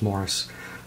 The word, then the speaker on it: Maurice: um maurice or morris it looks like maurice but it's pronounced morris um and it's about